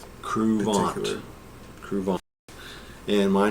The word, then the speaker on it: Kruvant: this is crant let's try crant that's the way we pronounce it crant crant and my name